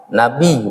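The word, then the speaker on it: نبي: Nabi bacanya nun ba ya bacanya Nabi. Karena ada sidah Nabi. Jangan pakai H ya.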